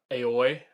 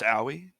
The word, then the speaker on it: Aoi: that one person uh aoi i think is her name i think it's pronounced owie yes uh yowie she